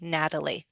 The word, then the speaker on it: Natalie: that T and Natalie to a flap T. It'll sound like a D. Natalie.